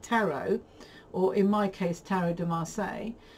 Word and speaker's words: Tarot de Marseille: or in my case, Tarot de Marseille, or Tarot de Marseille, if I try to pronounce it correctly, is no collection if you don't have any decks.